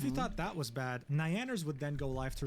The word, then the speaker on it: Nyanners: It's a little bit funny that you're saying Nyanners instead of Nyanners. it's nya. It's nya. Like kya, or q, like Kyushu. It's Nyanners. Nya.